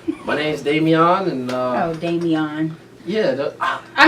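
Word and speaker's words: Damion: So, the pronunciation of D-A-M-I-E-N is Damien. Pronunciation of D-A-M-I-O-N is Damian.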